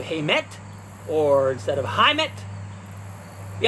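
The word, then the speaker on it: Heimat: a little funny like i might say hamet instead of heimet or instead of heimet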